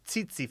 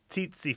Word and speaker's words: tsetse: This is a bit confusing, but the only ts initial I can think of in English is tsetse fly, tsetse fly.